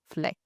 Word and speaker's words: Flekt: start with what is Fleck and how did you come by the name of it? Am I even pronouncing it right? Yes, that's the right way to say fleck.